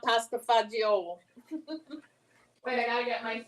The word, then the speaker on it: pasta fagioli: Yeah, well, we have not had battle mozzarella or battle gabagool or battle pasta fagioli. No, it's pasta fazool. But in Jersey, they say pasta fazool, not pasta fagioli.